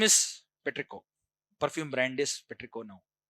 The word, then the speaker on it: petrichor: Which pronunciation is French pronunciation is petrico. R silent. Uh don't don't say petrichoran.